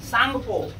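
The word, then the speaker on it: Tsangpo: Indus सांगपो, टी इसमें silent होता है।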